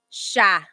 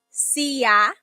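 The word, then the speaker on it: siya: it should be pronounced CA right it looks like that's how it's pronounced because that's how it's spelled CA but the s i y combination that makes a sh sh sound SOA so that's where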